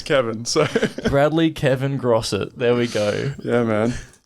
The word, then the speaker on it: Grosset: Is that how you pronounce it? Grosset?